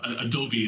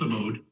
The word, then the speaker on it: Abode: Sometimes I've heard it, Adobe, it's actually pronounced abode.